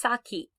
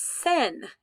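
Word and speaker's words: 先: going to show you this kanji which is pronounced saki saki means before if you're at a door with someone you might say osaki nidozo you go first okay sometimes it's pronounced sen and it means before so here we have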